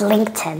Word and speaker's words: LinkedIn: right so this one l l Cody please LinkedIn or even this can be a t right yeah but when I say it fast it's LinkedIn exactly LinkedIn yeah LinkedIn beautiful so Lin Linkin